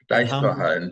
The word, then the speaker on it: Deichtorhallen: The Deichterhallen, how do you say? Deichterhallen, don't worry.